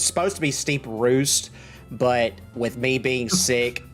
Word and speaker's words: Steeprost: about this town because I've heard it pronounced two different ways now steep Roost and Steve Frost which one is it uh steep Roost okay okay I needed